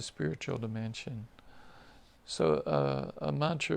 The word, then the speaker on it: mantra: transcendental Sound Vibrations or mantras uh Mantra is a a Sanskrit word comprised of two syllables man and TR man refers to the